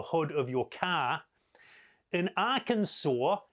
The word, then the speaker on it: Arkansas: In Arkansas, it's against the law to mispronounce the name of the state, Arkansas.